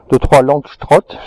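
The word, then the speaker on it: Langstroth: Il a un petit rucher de 3 Langstrott, ça se prononcer comme ça.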